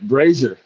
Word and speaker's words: Brazier: None of the letters match up. How do you pronounce it? Reagan? You got it right. Brazier. Brazier. I don't even know if there's an R in there. So it don't make sense. No, it's crazy German. Silent R.